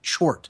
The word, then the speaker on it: Tchort: And it's spelled Tchort, Chort.